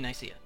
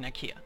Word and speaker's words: Nicaea: These 3 counties in Nicaea, or Nicaea, however you pronounce it. It's actually pronounced Nicaea in some contexts.